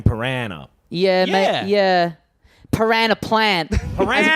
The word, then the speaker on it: piranha: It's Piranha sounds a bit posh, don't you think? That is how it's pronounced. Is it how it's pronounced? I always Yeah. thought it was like you had a choice. No. It's not like dance and dance. Yeah, okay. That's what, No, it's a piranha at all times, I'm pretty sure.